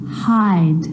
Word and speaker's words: hide: Hop, hope, sit, sight, hid, hide, slid, slide. So see how the E at the end, although it's not pronounced, is affecting the vowel sound before it. It makes it longer.